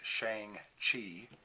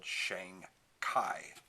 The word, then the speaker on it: Shang-Chi: Most people are telling me it's Shang-Chi. I'm going to say it's spelled Shang-Kai.